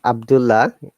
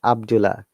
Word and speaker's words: Abdullah: Yes, not Abdullah. A native will never say Abdullah, it's Abdullah. One L should be removed when you're pronouncing.